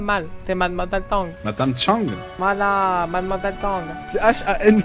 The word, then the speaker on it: Chang: Vous prononcez mal, c'est mademoiselle Tang. Madame Chang.